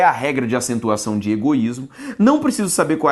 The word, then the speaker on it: egoísmo: Ao fazer a separação de egoísmo, eu tenho egoísmo. A sílaba tônica é a penúltima.